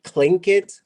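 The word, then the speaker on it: Tlingit: shingit and then say clink it pl and so that's why it's spelled with the d pronounce with the k but if we're speaking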